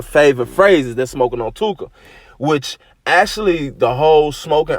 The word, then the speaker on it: Tooka: It actually rhymes with hookah, which is a smoking device. You see what I'm saying? So I think that a lot of people who diss Tooka, they may diss Tooka,